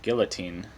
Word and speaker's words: guillotine: in the french revolution guillotine so you pronounce the l yeah it's it's too